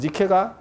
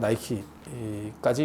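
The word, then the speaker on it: Nike: 그래서 어 사모트라캐스섬의 니케야.음 그리고 니케가 영어 발음을 하면 나이키까지 이제 연결되는 거야.음 승리 승리의 신 이렇게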